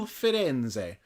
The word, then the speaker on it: Firenze: sailing of the Carnival Firenze. I had to look up how to pronounce it, and apparently you do say that last E.